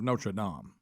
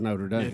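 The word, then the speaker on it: Notre-Dame: So, really, it's the hunchback of Notradam. Correct. Correct. What? What? What? Unless he had been in America and it would be the hunchback of Notre Dame.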